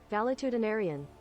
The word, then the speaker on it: valetudinarian: is a weird word valetudinarian Jesus too many syllables valetudinarian way too many one more time valetudinarian seven syllables how dare you hit